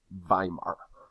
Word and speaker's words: Weimar: is something called the weimar republic keep in mind whenever you see a w in german it's pronounced with a v sound weimar here we have the